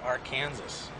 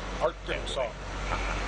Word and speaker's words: Arkansas: with Arkansas with Arkansas okay why isn't it pronounced AR Kanas you can pronounce any way you want to